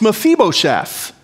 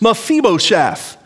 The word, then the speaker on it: Mephibosheth: I learned that through this study, I learned that we're pronouncing his name wrong. It's Mephibosheth. It has an I in it, but it's pronounced like two long E's. Mephibosheth.